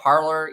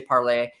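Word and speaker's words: Parler: million different ways, but I'll call it Parlor, even though the the French student in me wants to say Parlay.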